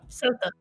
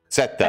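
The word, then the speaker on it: Ceuta: It's called uh say qua qua c e u t a however you say that in Spanish. It's this qua sa seta I think that's sa sa I think is how you say that.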